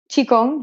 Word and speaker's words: Qigong: And did you, so when you went, oh, I want to learn this, how do you say it, Qigong? Qigong, yes. Qigong.